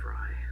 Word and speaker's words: Frey: And then Fry as in, not fry, like Fry as in F-R, like E-Y. Anna Frey? She pronounces it Fry.